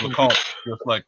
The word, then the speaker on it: LeComte: Hey, Grant, yeah, so I pronounced it the right way the first time. So it's LeComte, just like I thought. So that is, yeah, that's it. French Canadian French, nonetheless.